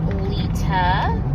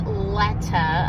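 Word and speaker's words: Leta: So I've always been known as Lita. It's spelled L-E-T-A, so if you see it written down, you would say Letta. A lot of people say Letta.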